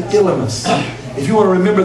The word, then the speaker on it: Elymas: But so we call him Elymas is the appropriate way to pronounce him.